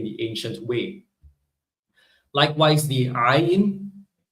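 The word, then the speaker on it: עין: Likewise, the ayin, right? It's pronounced using the throat.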